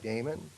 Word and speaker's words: Damon: The former banker from, That's not Damon. oh, that's how they pronounce it. That it's not. It's Diamond. like Diamond, D-I-M-O-N.